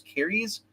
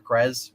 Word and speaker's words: Keres: Her name's Keres, it's Keres, Keres, or Krez, whatever you want to pronounce it.